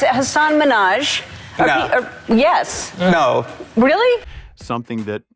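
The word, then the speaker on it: Hasan Minhaj: Because everyone that says your name says Hassan Minaj. Yeah, but the real way you pronounce it, and this is a big deal cuz my parents are here. It's Hassan Minaj.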